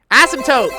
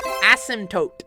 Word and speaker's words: asymptote: let's say this is starts with an A rhymes with dope rhymes with dope hey dope asymptote asymptote asymptote what the [ __